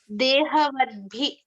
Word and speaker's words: dehavadbhi: And Dehavadi. yeah, dehavadbhi. But B V-A-D, or the D? vadbhi. B, not D. No, bhi as in B.